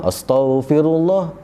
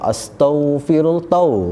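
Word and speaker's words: أستغفر الله: Macam-macam lah dalam zikir istighfar pun astaghfirullah, nak istighfar tapi sebab astaghfirullah, bukan tau tu, astaghfirullah, betulkan sebutan.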